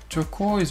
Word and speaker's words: turquoise: Donc ici on a une diphtongue sur le O-I. Donc c'est une double voyelle.